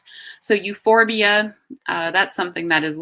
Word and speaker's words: euphorbia: see AE in Latin often pH is pronounced like an F so euphorbia that's something that is